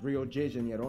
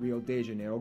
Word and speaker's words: Rio de Janeiro: that's right it's pronounced rio de janeiro not rio de janeiro get it right we're not in mexico this is portuguese not spanish this was done in